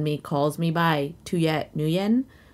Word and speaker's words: Nguyen: horror movies all day i'm luit nguyen but you can call me two yet new year i love that okay